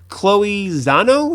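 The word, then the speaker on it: Chloé Zhao: and shaped its history and civilizations directed by chloe zano is how you say her name let's see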